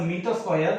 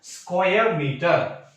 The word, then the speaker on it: square meter: That means we will not tell this one as a meter square. That is wrong. We have to pronounce this one as a square meter.